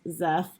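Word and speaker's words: Szeth: named zeth or s my brain is always pronounced it's so zeff because it's an s and then a z but apparently the official pronunciation is zeth and that's just where it kicks off and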